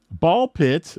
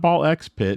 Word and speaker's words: BALL x PIT: Ball pit for Switch One is out. It's not ball X pit. It's definitely It's ball pit. And the X is silent in this game.